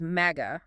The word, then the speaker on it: MAGA: And just to clarify, we are pronouncing that as MAGA, rhyming with tag a, as explicitly requested by the structural parameters of the text.